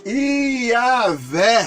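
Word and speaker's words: Yahweh: significa senhor ou deus vem do tetragrama que normalmente é o tetragrama ele é impronunciável os escriba chamados mas oretas da cidade massorá acrescentaram os sinais vocálicos a acrescentar os sinais vocálicos os acentos ou advogas então pode podemos com esses acréscimo de sinais vocálicos fazer a pronúncia yaveh bom então pia zé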